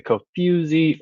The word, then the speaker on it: Kofuzi: with a few like the not foo but the few like the co-fusy run club playlist and